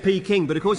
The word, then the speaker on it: Peking: I thought he'd mispronounced the word packing. But he said Peking.